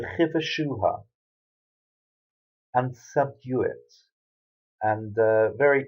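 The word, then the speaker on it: וכבשה: got three dots underneath, so it's a shu sound. And then at the end, we've got a hey, and here it's pronounced ha. So the chi the shu ha, the chiva shu ha, and subdue it.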